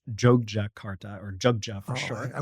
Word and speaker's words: Yogyakarta: the center of java the city called It's pronounced jog Jakarta or jugja for sure I worked so hard